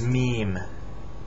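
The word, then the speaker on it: ميم: Arabic L lamb l l l This Is MeMe it's the Arabic M it's a circle with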